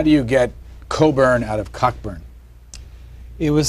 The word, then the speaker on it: Cockburn: but uh but all coburns carry this Mission through life is your name is spelled cockburn but you pronounce it Coburn um and there are